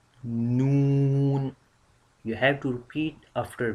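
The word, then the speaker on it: نون: So when we touch our tip, our edge of tongue on this place. So then we can pronounce noun sound easily.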